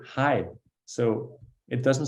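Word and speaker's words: hej: yeah okay so a couple of things hi it's spelled hcj which is he hey but just we just say hi so it doesn't sound at all the way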